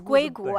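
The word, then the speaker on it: 硅谷: In the United States, they have Silicon Valley pronounced as Guigu, and in China, they have Mr.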